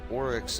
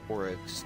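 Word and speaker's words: Auryx: Now, Oryx is spelled A-U-R-Y-X. This is not Oryx, like Oryx the Taken King, O-R-Y-X.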